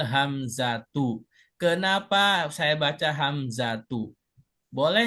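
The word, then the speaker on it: الهمزة: Nah, tadi Bu bacanya hamzati ya, Bu. Iya, soalnya dikirainnya ada alif lamnya kan kirainnya isim makanya ragus. Oke, sekarang cara baca yang betul adalah wakatil hamzatu.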